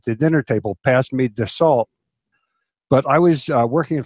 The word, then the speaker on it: Dassault: fly that brand, and they told me that it's pronounced Dassault. Can't even hear the L, but definitely the T is silent, like the P in swimming.